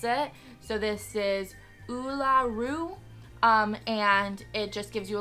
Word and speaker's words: Uluru: So what the name of the place is and how to pronounce it. So this is Uluru.